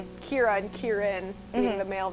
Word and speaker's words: Ciara: name though is pronounced sierra is spelled like the irish name kira c-i-a-r-a but in you know it's kira and kieran being the